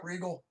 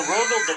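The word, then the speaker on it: Rogal: God damn it, Regal! Why can't you be more like your brother, Sanguinius? Hey, Sanguinius. It's Rogel. Regal is spelled just like that. It's Rogel.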